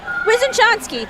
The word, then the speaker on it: Wysoczanski: Hold on, I just asked him how to pronounce his last name, and I forgot already. I think it was Wysoczanski. Wysoczanski, yeah, okay.